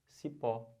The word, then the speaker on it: cipó: Olha o exemplo. Cipó. Sílaba tônica é o pó.